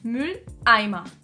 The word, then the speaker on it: Mülleimer: There are two syllables in our word "Mülleimer" (trash can). The first one begins with a consonant, so we don't touch it. The second one starts with a vowel and is stressed ("-eimer") so we add our Knacklaut to it. And we end up with "Mülleimer".